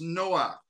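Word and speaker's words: נֹחַ: Hebrew the name Noah is spelled with a het at the end and and is pronounced Noah Noah's name comes from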